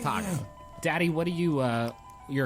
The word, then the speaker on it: Taako: His name is Taco.